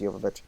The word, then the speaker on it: Jovovich: Mila Jovovich or Jovovich, however you pronounce it, she's a really good actress. She knows what she's doing. It is Okay, it is Jovovich. It is It's Jovovich. Jovovich. Yeah, I looked this up That's why I beforehand.